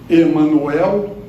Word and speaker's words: Emmanuel: Há um livro, Renúncia, Emmanuel. Eu gosto de falar Emmanuel, evita Emmanuel. Então o nome é Emmanuel mesmo. A tônica é no final da palavra.